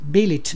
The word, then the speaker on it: billet: Billet does not rhyme with ballet, bouquet, wallet, mallet, chalet.